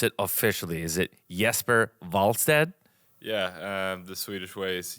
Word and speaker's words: Jesper Wallstedt: Yeah, the Swedish way is Jesper Wallstedt. Jesper Wallstedt. That sounds cool. You've got to roll the R a little bit there. Yeah, just a little bit. Jesper Wallstedt.